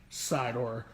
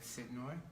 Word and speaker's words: Sidnor: hands on Apollo Eric Sidor one more time. Again. I did it wrong again? You did it wrong again. His name is Eric Sidnor. Sidnor. Yeah, and I'm not doing